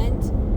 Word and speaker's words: Holbox: are going to have you guessed it Isla hos and that's h o box but it is pronounced hos um so it's about 2 hours north of